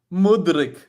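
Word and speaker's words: Mudryk: Mudrick. Like it's almost like Modric.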